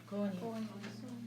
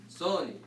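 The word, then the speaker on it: ⲥⲱⲛⲓ: Koni. So in Coptic and in Greek, this letter is always pronounced as an S. Soni.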